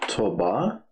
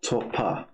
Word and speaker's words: topa: So not toba, but topa. Topa.